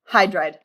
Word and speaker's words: hydride: Hydrogen does not become hydrogide because we have hydra, O, gen. So just the first syllable, hydride.